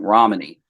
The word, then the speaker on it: Ramani: I apologize. I pronounced her name wrong. Ramani.